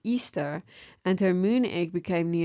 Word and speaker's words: Ishtar: Semiramis became known as Ishtar, which is pronounced Easter, and her moon egg became known as Ishtar's egg.